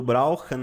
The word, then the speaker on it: brauchen: E aí a pronúncia do brauchen aqui, você pode pronunciar com o R na ponta da língua, no fundo da garganta. Brauchen ou brauche. Vai do que for mais fácil para você.